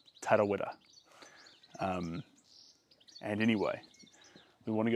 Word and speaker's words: Tarawera: So when you say Tarawera, you actually roll the R's to say it with correct pronunciation, similar to Spanish, but not too many. Not just one. Tarawera.